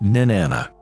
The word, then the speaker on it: Nin-anna: in sumarian mythology in suan she is usually pronounced Nana she was the God of Sex reproduction and